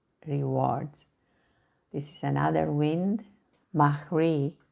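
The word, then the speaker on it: Mari: This is another wind, Mahri, it's actually the way to pronounce it, a Basque wind.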